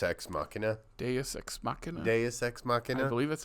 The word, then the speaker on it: Deus Ex Machina: Deus Ex Machina. I believe that's how it's pronounced.